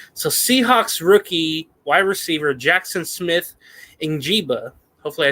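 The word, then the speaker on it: Jaxon Smith-Njigba: Jackson Smith Njigba.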